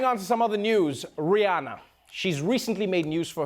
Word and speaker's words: Rihanna: She wants everyone to know it's Rihanna, not Rihanna. Hello, British Vogue. It's Rihanna, and I want to welcome you to Paris, where I'm launching Fenty Maison.